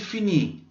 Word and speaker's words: finit: Solo son letras que, por ejemplo, en los primeros casos no se van a pronunciar y luego en el último caso, los tres últimos, es una forma especial.